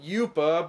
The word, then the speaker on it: Yupa: She then meets up with the warrior whose name is Yuppa. In Nuzuka it's pronounced Yupa, but I'm gonna assume that's just a semantics error.